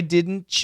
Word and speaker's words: didn't: The N can cancel the D.